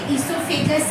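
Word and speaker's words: oesophagus: इसको बोलते इससोफेगस है और लिखते ओसोफेगस है। ठीक है? तो स्पेलिंग गलत नहीं करना। ओ से बिगिन होगा।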